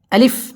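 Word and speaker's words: ألف: আমাদের মধ্যে অনেকেই আলিফ এই হরফটা টেনে পড়ে আলিফ এইভাবে পড়ে যদি কেউ এইভাবে টান দিয়ে পড়ে তাহলে তার পড়াটা অশুদ্ধ হবে আলিফ একদম তাড়াতাড়ি পড়তে হবে আলিফ আলিফ বা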